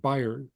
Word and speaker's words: Bayern: And in Germany, the name for Bavaria, it's called Bayern, and it's where bear aspirin is made. So B- A R N is how you say Bavaria in German.